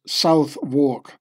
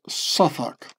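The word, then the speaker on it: Southwark: was born in Sak which Americans would pronounce South walk with the londoners pronounced suak so I'll read it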